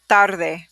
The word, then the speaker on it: tarde: muchas chicas next one tarde let me hear that again tarde i'm rolling my r so tarde you know